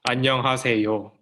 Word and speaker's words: 안녕하세요: So as she said, I don't know who said it, but 안녕하세요 is how you pronounce it.